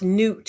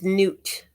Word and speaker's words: Nut: Yep, it is goddess nut. Oh, it's pronounced newt. Excuse me. It's newt. It's not pronounced nut.